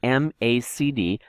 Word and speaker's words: MACD: under oscillators look for the macd the McD that's how you pronounce it it's the macd and